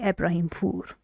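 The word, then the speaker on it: Ibrahimpour: first language I say ibrahimpur SI I say I'm Ibrahim Can You Feel the last syllable in my last name more stressed and the intonation is falling how about you practice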